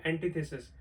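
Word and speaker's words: antithesis: The next one इज, क्या पढ़ने वाले हैं इसको, जो इसका राइट प्रोनाउंसिएशन है वो है एंटीथेसिस।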